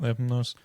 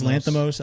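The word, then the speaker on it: Lanthimos: I think it's Lanthamos. I know. Again, I I listened to Stav say it and he says it the Greek American way where like he has the accents in the right place.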